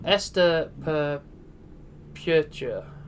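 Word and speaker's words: Esto perpetua: So I was going to try and pronounce the Idaho motto. Esta perpetua.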